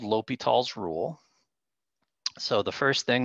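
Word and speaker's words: L'Hôpital: where we say l'hopital it looks like it's spelled hospital but we say l'hopital's when you get the name right it's enough repetitions of that so l'hopital's rule was something that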